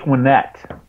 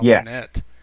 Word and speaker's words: Winnett: Winnett. Yeah. Winnett. So I tell people it's like win as in win the game, and net as in nothing but net.